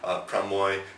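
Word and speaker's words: ប្រាំមួយ: In written Khmer, there's actually a symbol for 6, a symbol for 7, but the way you pronounce it, would be, so like 6 would be pramoy, and then prambi, prambai, prambon.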